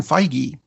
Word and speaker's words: Feige: on their way Kevin Feige and yes I am pronouncing it right because I called Marvel and I asked them made an announcement about